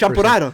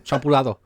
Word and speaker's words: champurrado: Can I say like a white Champurrado. person? Champurado. My bad. Champurrado. Blame the root beer. Edit that part out. Nah, I'm just messing around. You gotta roll your R's.